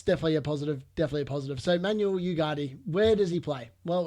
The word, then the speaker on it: Ugarte: I think his name is actually pronounced Ugarte. Apparently, from what I've done some research, it's a silent G. But if you don't have any idea like I do, apparently it's okay to go Ugarte.